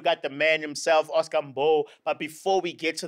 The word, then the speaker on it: Mbo: No, it's MBO.